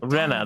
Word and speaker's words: Renna: I am the witch Renna. I'd heard Renna, that's right. That's how you pronounce me.